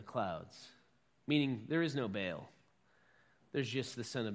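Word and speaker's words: Baal: worshipping along with Yahweh was bail or what is sometimes pronounced ball and ball in Canaanite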